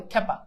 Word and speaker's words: ক্ষ্যাপা: আচ্ছা ক্ষ্যাপা ক্ষ্যাপা ক্ষ্যাপা আমরা জানি যে খিও থাকলে খ হবে এজন্য কি হবে ক্ষ্যাপা ও মেবি সেটাই বলছি